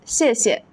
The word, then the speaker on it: 谢谢: Our first word is 谢谢, which means thank you. Notice that the second syllable is usually light and unstressed, like 谢谢, 谢谢.